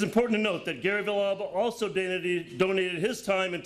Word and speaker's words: Villalba: Did I pronounce that right? Villalba.